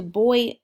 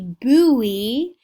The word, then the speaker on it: buoy: not swim and could not procure anything to boy them up boy hmm I'm going to look